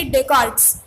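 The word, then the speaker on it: René Descartes: तो सबसे पहले हम हिस्टोरियन देखते हैं रेने डेकार्ट्स. वो एस साइलेंट है, उसे क्या प्रोनाउंस करेंगे? डेकार्ट्स.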